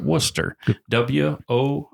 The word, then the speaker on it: Worcester: So, but the people of that fine town pronounce it Worcester. Woster. If you're saying it like rooster, you're doing it wrong.